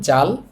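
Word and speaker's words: 잘: এটার সাথে আকার দিলাম এরপর আছে রিউল রিউল যেহেতু নিচে আছে শেষ বর্ণ উচ্চারণ হবে রিউলের শেষ বর্ণ হচ্ছে ল এই শব্দটার উচ্চারণ হবে জাল জাল অর্থ ভালো আমাদের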